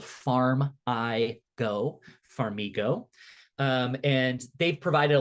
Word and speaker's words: Farmigo: And the one that I see most commonly used is called Farmigo. That's spelled Farm-I-Go, Farmigo.